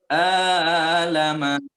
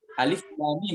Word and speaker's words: Alif Lam Mim: Alama. Dia begitu. Padahal harusnya bacanya Alif Lam Mim begitu.